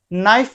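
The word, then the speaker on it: knife: हमारा W silent है, नाइफ में हमारा के साइलेंट है, हाई में हमारा आई साइलेंट है, वॉक में हमारा एल साइलेंट है।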